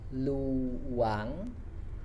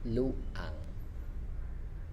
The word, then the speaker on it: luang: vacant spare or free we say lu wang lu wang instead of luang next we have dual